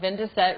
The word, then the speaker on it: Vin de Set: is our address um if you were to phonetically spell out 2017 it would be vindeset which is the name of our restaurant so um to go